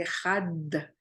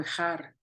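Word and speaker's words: אחד: Shema Israel, Adonai Eloheinu, Adonai Echad. Por eso se le da énfasis en la Dalet de Had, porque si no lo pronuncian correctamente, lo pronuncian muy ligero, puede sonar como Ejar.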